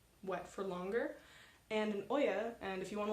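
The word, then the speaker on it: olla: Some other things you can do, you can add things like Oyas or watering bulbs.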